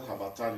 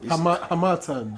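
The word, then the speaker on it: harmattan: No, H amatan. Hamatan. What's that pronunciation? Hamat. You You took it from me that day. I beg you. Hamat. The stress is on the second syllable.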